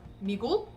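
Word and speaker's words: 미국: korean is okay right so the spelling is me but when you speak the bottom syllable of the k kind of falls flat so it's like okay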